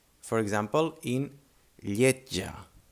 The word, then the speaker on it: lletja: J For example, in lletja. Lletja. Lletja means ugly and is spelled L-L-I-T-J-A. En català, L-L-E-T-J-A. Lletja. Lletja. Again, we have this sound, no? The J, like a T and a J.